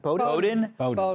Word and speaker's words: Bowdoin: How do you pronounce the name of his college? Bowdoin. Bowdoin.